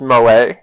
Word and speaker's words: moe: trying to tell me oh mo slang but isn't that pronounced moe and reading it here it doesn't say my way it says mo look i don't know